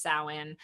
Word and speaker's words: Samhain: so some folks might know of the holiday samhain it looks like it's spelled samhain and a lot of people pronounce it champagne but it's really pronounced samhain and this is a pagan holiday where we